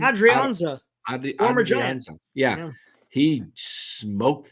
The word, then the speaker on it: Adrianza: Adrianza.